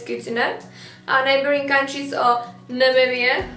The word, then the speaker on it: Namibia: our neighboring countries of Namibia not nambia puts wanna Zimbabwe Mozambique